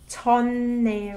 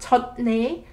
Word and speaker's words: 젖네: So if you remember correctly, this one is read 전네, right? Not 젖네, 전네.